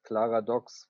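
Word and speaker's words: Klaradox: so first things first clara docks very easy to pronounce it's a mixture of paradox and my last name which is so i just combined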